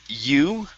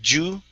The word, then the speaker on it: you: Next is the word you. Go right here. Instead of saying ju, pronouncing a j sound, it's an eu sound.